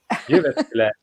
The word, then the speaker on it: Jyväskylä: Jyväskylä.